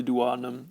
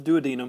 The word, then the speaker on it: duodenum: and enters into the duodenum or the duodenum however you want to say it right there at